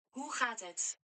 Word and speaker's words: Hoe gaat het: Hoe gaat het? Hoe gaat het? It's not even the word ho.